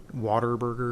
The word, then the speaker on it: Whataburger: Oklahoma or Texas but that is how you pronounce it Water Burger that's you know when